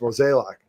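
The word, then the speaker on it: Mozeliak: months of this show kept pronouncing it was Mazzilli AK used to accept that a name that was spelled like that would be pronounced Mo's a lock but the young Elliott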